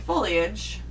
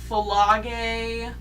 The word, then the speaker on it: foliage: And the science teacher suggests a trip to go look at foliage, Foliage. but he keeps saying it wrong. How does he say it? Folage. Folage? Folagi.